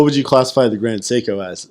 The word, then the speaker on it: Seiko: that's stupid I know is it psycho or Seiko it's Seiko but I could pronounce it